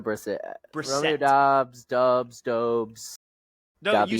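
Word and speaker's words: Brissett: I thought you said I thought you said Jacobe Brisket at one point. No, I said Briset. I said Briset.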